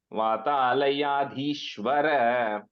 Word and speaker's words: Vathalayadhishwara: The last syllable letter there, Vathalayadhishwara. There's no A there. Okay. So it just ends with a Ra. Vathalayadhishwara.